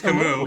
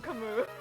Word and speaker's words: Camus: No one knew how to pronounce his name until Faye. Yeah, so many people just said Camus. Like it was a cow. Wait, it's not Camus? It's Camus. It's Camus. It's French.